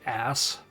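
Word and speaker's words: arse: Lu of course yeah it's written like ARS however whatever Brits that spell it that way say AR they say ass and she also says ass and cutscenes so precisely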